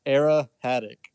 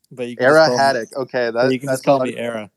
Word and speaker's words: Era Haddock: to say it uh it's era haddock era haddock you can just say era i like it there